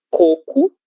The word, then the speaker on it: coco: A única diferença além da escrita é a pronúncia coco. Coco, sílaba tônica, a primeira, cocô, sílaba tônica, última.